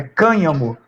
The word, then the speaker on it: cânhamo: que eu não conhecia, mas pela acentuação é cânhamo.